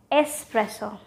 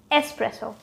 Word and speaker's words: espresso: huh espresso or espresso believe me just remove that eggs it does not belong there espresso it's espresso i want a cup